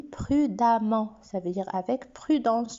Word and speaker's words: prudemment: j'ajoute e double mmtc se prononce comme un an je le lis prudemment ça veut dire avec